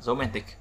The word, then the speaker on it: romantic: Romantic, một, man, hai, tic, ba, romantic.